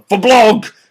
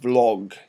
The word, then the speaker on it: vlog: coming up with the vblog thing that apparently you're better to pronounce it Vlog get rid of the B and it becomes Vlog but frankly V blog is way better so I'm going to